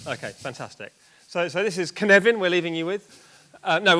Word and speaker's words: Cynefin: Yes, you might think it's pronounced but it's not. It's How naive. In Welsh, that's Cynefin.